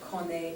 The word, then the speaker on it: connaît: Okay, connaissons, connaissez, connaissent, and then here we're not pronouncing the last consonant, connaît, connaît, connaît, so we just hear the vowel sound at the end.